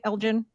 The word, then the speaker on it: Elgin: Elite Cardiology Solutions in Elgen Illinois did I pronounce that okay Elgen is that correct that is correct I'm from Jersey I'm